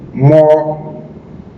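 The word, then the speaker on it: mò: Si pongo la letra O con ese signo, con M, suena mo.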